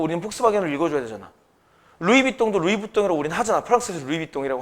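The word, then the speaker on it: Louis Vuitton: 폭스바겐이라고 읽어. 아니 근데 이게이 나라에서 폭스바겐이니까 우리는 폭스바겐을 읽어 줘야 되잖아. 루이비똥도 루이부동이라고 우린 하잖아. 프랑스에서 루이비똥이라고 하니까. 그지? 근데 미국에서는 루이스비 탄이 이렇게 부른대.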